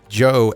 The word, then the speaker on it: Joe: future Joe at 10minute Joe has an e by the way it's a silent E Joe 10minute you can email